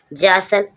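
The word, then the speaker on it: jostle: जौसल, जौसल, जौसल means धक्का करना, धक्का करना, जौसल। JSGOSTLE, यहाँ पर टी साइलेंट है, टी साइलेंट है क्योंकि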